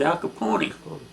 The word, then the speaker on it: Capone: privy to being around, they pronounced his last name with the third syllable, with the E on the end. It was Al Capone.